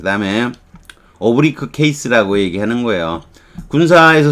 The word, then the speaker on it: oblique: oblique 군사 용어에서는 oblique 이렇게 발음하는 경우도 있다는 거예요. 이게 기울어진 비스듬한 이게 한정적으로 완곡한 비스듬하다는 건 애두르는 거죠. 문법에서는 이걸 오브리크라 그래요.